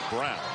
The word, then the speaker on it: Braun: Brown back into the game, spelled like Braun, but pronounced like Brown.